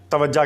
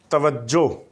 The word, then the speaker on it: توجہ: جاتا ہے وہ ہے توجہ کہہ دیتے ہیں، توجہ نہیں، توجہ، درست لفظ، اس کا تلفظ توجہ۔ اسی طرح یہ